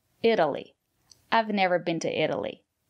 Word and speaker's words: Italy: look at these examples Italy it Italian Italy the syllable after the letter T is not stressed we pronounce the letter t as a fast D Italy I've never been to